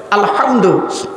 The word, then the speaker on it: আলহামদু: আলহামদুলিল্লাহি রাব্বিল আলামিন আলহামদু এই গলার ভেতর থেকে হে এটা উচ্চারণ করবেন আলহামদু এর মানে হচ্ছে সমস্ত